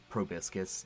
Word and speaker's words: proboscis: This creature Proboscis. Yeah, that's how I say it for sure. It rhymes with hibiscus.